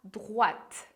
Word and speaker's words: droite: Depois, à droite, que a pronúncia de droite, você tem que lembrar que o OI vai fazer som de UA. Então, a gente vai falar droite. Como o Felipe já te explicou, o E no final a gente não pronuncia.